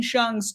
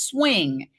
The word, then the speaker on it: Hsiung: The Intercept she says the prosecution has repeatedly mispronounced Wayne shung's surname as swing and it's shun so that's another fascinating